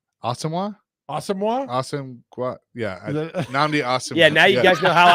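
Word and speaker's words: Nnamdi Asomugha: Is that- Namdi Asamoah.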